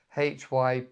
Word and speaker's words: hyperbole: But it's spelled hyperbole, hyperbole, so it looks completely different to the actual word. Hyperbole.